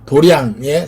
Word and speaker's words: 도량: 근데 절에 가서는 어떻게 한다고? 절에 가서는 도장이라고 써있거든. 도량이라고 읽는 거야. 스님들이 공부하는 곳에 도량 이렇게 써있거든. 한자는 도장 써있는데 읽을 때는 도량, 연화 도량.